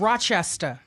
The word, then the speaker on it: Rochester: I said Rochester. Yeah, you're right.